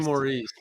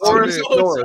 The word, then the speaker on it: Morice: It's spelled Morice. Yeah, it's definitely Maurice. Maurice. Morris. My bad, Maurice.